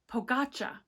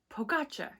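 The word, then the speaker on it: Pogačar: say his name right it's today pogacha pogacha yes I remembered because I was hearing the commentator saying I was like who is that and it's the correct way it's it's pogacha not pogocha that's Hermione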